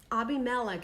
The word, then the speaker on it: Abimelech: And Abimelech is really how it should be pronounced, because Melech is what? King, or Melchizedek. right? Yeah. So it's Abimelech.